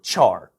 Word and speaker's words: char: character is shortened to its first four letters and is often pronounced care or char gers are stored as